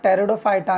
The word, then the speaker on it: Pteridophyta: टेरिडोफाइटा यहां पर बेटा टेरिडोफाइटा हुए दो पीस साइलेंट होता है बच्चे से इफेक्टिव फॉर